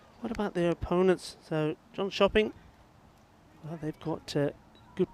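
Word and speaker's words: Jönköping: John cing coming back or shopping as they call it never mind how it's spelled it's what they say to me so yeah John shopping sounds a bit like gone shopping doesn't it but gotberg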